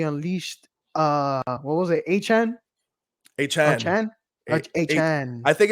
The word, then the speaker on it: Achane: problem for this offense as we saw Devon a Chan apparently as we need to start pronouncing hn and Raheem moster combined for eight